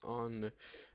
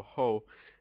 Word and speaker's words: ho: to have EO o I do not pronounce the h if you pronounce the h it will sound like EO ho and EO ho sounds really bad if we're trying to speak Italian and Italian speakers will most likely laugh at you you oh to I